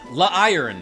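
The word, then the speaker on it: Lairon: says Hey Genevie Leon La iron is is how it's supposed to be pronounced iron armor Pokémon when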